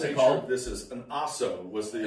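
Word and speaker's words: Ahso: And the whole What's nature of this is an Aso was the it's original. It's spelled A-H-S-O.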